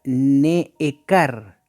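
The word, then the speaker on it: נעקר: Aquí, como usted puede ver, aquí está la palabra en hebreo, se pronuncia neekar, ¿ah?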